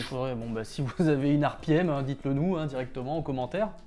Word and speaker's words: Arpiem: C'est l'acronyme en prononciation anglaise des lettres RPM, RPM.